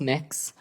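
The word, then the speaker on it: Mx.: It's pronounced mix.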